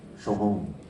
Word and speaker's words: Shoigu: And I was also interested in Sergei Shogun, how do you pronounce it? The defense minister, Shoigu.